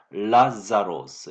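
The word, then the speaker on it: Λάζαρος: 헬라 말로 기록되어 있는데 라자로스 이렇게 발음합니다.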